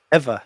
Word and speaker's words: Ewa: is it wherever beach ever ever the the w is pronounced like a v oh that's what's up